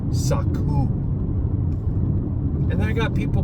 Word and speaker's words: Sukkot: It's not Sukkot. That's not even the proper spelling or pronunciation of the feast. Saku.